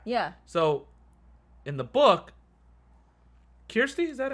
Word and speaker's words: Kirsty: pronounce her name correctly is it Kirsten no it's a k-i-r-s-t-y is it Kirsty sounds like okay Kirsty yeah it's like it's